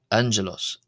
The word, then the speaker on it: ⲁⲅⲅⲉⲗⲟⲥ: Gamma uh we have as an as an example word here I've provided uh angelos an n. So the first gamma being pronounced as an n sort of sound ja j second g uh naos angelos.